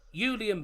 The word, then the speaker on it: Julian: the uh dman player he's called Julian Brandt the J's pronounced why so more all I